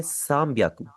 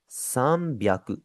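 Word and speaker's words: 三百: यहाँ पर थोड़ी सी देखने वाली चीज़ ये है कि 300 के अंदर आप डायरेक्टली ये नहीं कर सकते कि आप सान लगाएं उसके आगे ह्याकू लगा लें। 300 को आप बोलेंगे साम ब्याकू।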